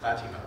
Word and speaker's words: Fatima: I think before I'll turn things over to the audience is that I felt like, in fact, how do you pronounce it? It's a Fatima. Fatima.